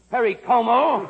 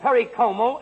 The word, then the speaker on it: Perry Como: and thursday we'll have peru peru perry cuomo notice i can't pronounce the easy ones then wednesday and thursday we'll have perry como and friday we'll feature andy